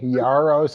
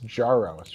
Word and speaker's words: Jaros: So, you've been softening the J Yaros and it's Jaros, right?